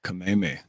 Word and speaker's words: Kameme: I remembered Kameme because the way it's spelled, I always think of Kamehameha, but it's Kameme.